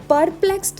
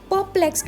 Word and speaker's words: perplexed: तो प्रोनाउंसिएशन में खास बात ये है कि जो आर है वो यहाँ पे साइलेंट है। इसकी प्रोनाउंसिएशन में हम परप्लेक्स्ड नहीं बोलेंगे, परप्लेक्स्ड बोलेंगे। आर को साइलेंट रखना है, परप्लेक्स्ड।